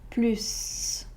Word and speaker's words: plus: Dans ce cas-là, on doit prononcer le S comme un plus.